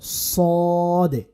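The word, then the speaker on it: صاد: সদে সদে সদ এবং সিনের মধ্যে পার্থক্য হচ্ছে সিন চিকুন সদ মোটা সিন জবর সায় সদ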